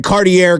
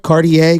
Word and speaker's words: Cartier: But he was the guy wearing Cartier gold glasses on the sidelines a couple years ago.